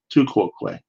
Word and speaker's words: tu quoque: So tu quoque, you need to pronounce that right, by the way. It's quoque, tu quoque, which is not an